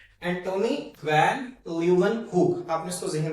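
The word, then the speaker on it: Antonie van Leeuwenhoek: मैं दोबारा रिपीट कर रहा हूं। एंटोनी वैन ल्यू वन hook. अगर आपको प्रोनाउंस नहीं करना आ रहा तो लू व्हेन हु आप इसको सेलेबल्स में तोड़ लें।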